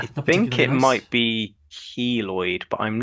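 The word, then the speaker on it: keloid: So yeah, I think it might be kloid, but I'm not sure. Koid. It is kloid. I've just played the pronunciation, but yeah, Kloid.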